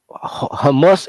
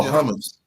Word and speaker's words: hummus: is they put a uh humus eater what how you pronounce it humus hummus oh hummus yeah and made her black just because they